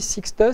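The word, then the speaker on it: 6TiSCH: Ceci, Sixtus, ça se prononce.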